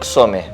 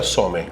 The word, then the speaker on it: Csome: Hoy estamos con Xome. Sí. ¿Se pronuncia Xome? Se pronuncia Some. Some. Es una C muda.